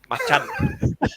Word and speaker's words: Macan: He said, "Guys, you're saying all wrong, because Macan is based on the Indonesian word for tiger, right? Because it's agile like a tiger. You know how they say it over there? Macan. Machan.